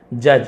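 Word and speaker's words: judge: जज यहां पर डी साइलेंट है।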